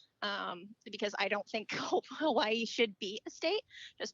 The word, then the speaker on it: Hawaii: the w is is with more of a v sound so it's who hawaii hawaii hawaii i know i'm